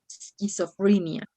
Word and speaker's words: schizophrenia: i didn't heard that since you have the s at the in the first place you have to pronounce schizophrenia like there were no other words here okay schizophrenia but if you find some word with an e before the s you can mention s okay but here in